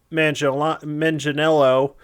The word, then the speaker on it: Manganiello: there's a bunch of announcements this week for D&D, and one of the things they said was Joe Manganiello.